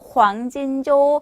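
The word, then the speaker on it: 黄金周: 황금주는요, 황진조, 여러분들만 황진조라고 해주시면 되세요.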